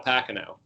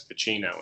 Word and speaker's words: Pacino: Or, as Al Pacino used to say, everyone in Hollywood before The Godfather used to mispronounce his name. They used to call him Al Pacino.